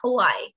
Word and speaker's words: Hawaii: that why okay yes because in portuguese we don't pronounce the h but in english we do so it's hawaii okay my parents sorry